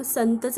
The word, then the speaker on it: संत: इथे टी लिहून घेतला त हा शब्दात शेवटी आहे आणि शेवटी अ चा उच्चार होत नाही म्हणून आपण टी च्या पुढे ए लिहिणार नाही मग संतच स्पेलिंग काय तयार झालं